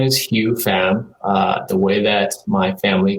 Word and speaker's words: Hieu Pham: So my name is Hieu Pham. The way that my family calls me, the way it's pronounced in Vietnamese is Hieu Pham.